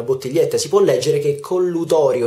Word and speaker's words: collutorio: per fare gli sciacqui non si chiama collutorio bensì collutorio una sola t c'è una sola t anche ascoltando le pubblicità o semplicemente prendendo un flacone una bottiglietta si può leggere che collutorio e non collutorio con